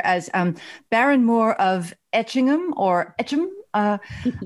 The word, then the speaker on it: Etchingham: the um oddly enough you should pronounce itching ham like like Americans would like Birmingham Alabama oh a strong ham